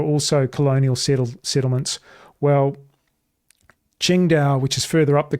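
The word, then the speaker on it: Qingdao: You may have heard of Ching Dao beer or it's spelled singing Tao here, but it's actually spelled or said Ching Dao, which is on the coast.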